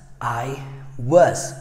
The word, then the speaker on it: was: é Boss não não é assim tá se pronuncia ai US I was fala comigo estava Então vamos lá se